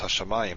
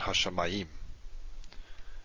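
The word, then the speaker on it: השמים: So it's hashamayim, not hashamayim. Et hashamayim ve'et haaretz. Again, the stress falls. The tonics, the accent is marking our stress or tonic syllable, which is the second to last here. So it tells you how to pronounce it.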